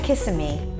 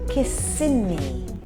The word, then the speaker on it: Kissimmee: I know the next one is looks like Kissimmee which is how I would pronounce it normally but it is in fact kissing me oh God this is I don't know why